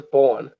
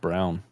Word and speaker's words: Braun: I thought his name was Braun. Or Braun. It's spelled Braun, but I guess it's pronounced Brown.